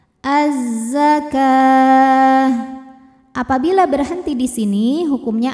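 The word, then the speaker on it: الزكاة: Maka cara bacanya, alif lamnya tidak dibaca ya. Jadi masuk langsung ke zai atau biasa disebut dengan idgham syamsi. Az-zakah.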